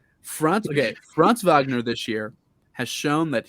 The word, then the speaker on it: Franz Wagner: wagner um franz wagner franz wagner dude i actually found out that's actually how you pronounce it yeah yeah it's german yeah i love him um